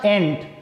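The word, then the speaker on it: ain't: एम नॉट का short form होता है एंट, AIN''T, उच्चारण होगा इसका एंट।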